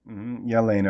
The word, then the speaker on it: Jelena: or non-intuitive at all I'm Jelena Yelena okay there you go sound we wouldn't really associated with Jay but that's how it's pronounced um but don't worry